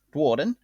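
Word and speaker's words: Duardin: After leaving Sigmar's travels, with Sigmar freeing the two Dwarden, because that's how it's pronounced, Dwarden.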